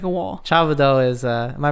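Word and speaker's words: 差不多: Chabudo is, am I pronouncing it right?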